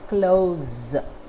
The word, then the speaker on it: close: word this word is pronounced as close with the z sound as an adjective this